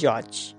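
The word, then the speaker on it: judge: ডি এর পর জি হলে ডি এর উচ্চারণ হয় না। যেমন উদাহরণ দিচ্ছি। দেখো যদি বলি জজ।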